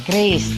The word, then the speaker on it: QRIS: biasa disebut dengan Kris Kris ya bukanis gitu Tapi bacanya Kris quick response code Indonesian